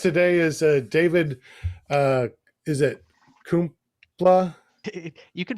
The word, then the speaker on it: Kumpula: Is it Kumpula? You can pronounce it any way you want, Sean. My family pronounces it Kumpula.